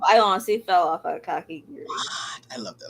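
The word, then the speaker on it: Kakegurui: Oh, I always pronounce this wrong, but Kakikurai twin Kake Gurui. Kakiguri.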